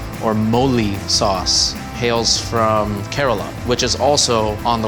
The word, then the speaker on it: Kerala: From Kerala. Kerala? Kerala. I can't pronounce anything.